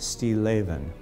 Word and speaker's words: Stilleven: and it means still life and it's actually pronounced Steve lathan we decided to begin to kind of look